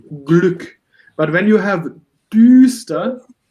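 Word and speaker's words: Glück: consonants after and woken you have to pronounce this uh vowel in a short way like in um here when you have gluck it's the um the open version of gluck but when you have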